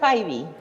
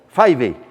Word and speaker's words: Fyvie: Se pronuncia Fayvi. Fayvi.